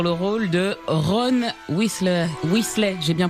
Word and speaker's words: Weasley: Weasley, j'ai bien prononcé?